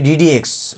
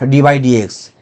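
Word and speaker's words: d/dx: I say one thing, that here the pronunciation would be ddx, not d by dx. Basically ddx is operator defined as capital D. So you just pronounce here dk dx to the power k, or d square dx square, or d2 dx2, not pronounce d by dx, only ddx.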